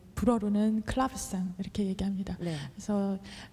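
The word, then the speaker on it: clavecin: 코드는 어떤 바뀌었나요 어 하프시코드 는 이제 영어로 발음을 1 그렇고요 독일어는 챔 팔로 또 젤 불어로는 클럽이 쌍 이렇게 얘기합니다 그래서 이 합시 코드 같은 경우는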